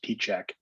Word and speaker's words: Pieciak: don't feel bad my my mom and my dad actually pronounced my last name differently uh than each other so um i go by my mom's pronunciation which is p-check excellent all right well